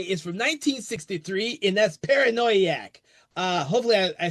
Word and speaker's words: Paranoiac: So, uh, the film we're going to be talking about today is from 1963, and that's Paranoiaak.